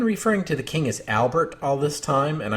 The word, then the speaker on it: Albert: to the king as Albert all this time and I suppose I ought to be saying albear but you've probably noticed